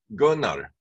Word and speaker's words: Gunnar: The R is not so distinct. Gunnar. It's not Gunnar. It's Gunnar. Yeah. You pronounce the U basically.